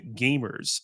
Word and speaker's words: GVMERS: for a YouTube channel called Gamers, spelt with a V, so GVMERS, but the V was stylized, flipped upside down 180 degrees, so it looked like an A. So you would pronounce Kind of it like that as sex cult Gamers.